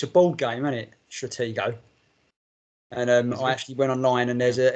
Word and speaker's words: Stratego: Stratego. And I actually went online, and there's an American geezer pronouncing it if you go to the right website.